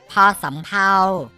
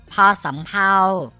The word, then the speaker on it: ภ สำเภา: มอง เห็น อยู่ นี่ อ่าน ออก เสียง ว่า พอ สำเภา น้อง ๆ ฝึก ออก เสียง ตาม พี่ มะตูม นะ ครับ พอ สำเภา พอ สำเภา พ่อ สำเภา พี่ นาง